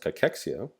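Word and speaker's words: cachexia: Cahexia, sometimes pronounced cexia will be caused by TNF alpha.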